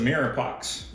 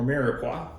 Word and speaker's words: mirepoix: 2 pounds of potato gnocchi, 20 ounces of mirepoix, or mirepoix, depending on how you say it.